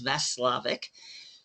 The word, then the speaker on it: Veslavic: I now pronounce her name properly. It's Veslavic.